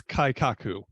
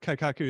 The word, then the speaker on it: Kaikaku: lean six segment practitioner so the word is kaikaku and you may understand the first uh syllable here Kai you may that may sound familiar Kaizen right so if you're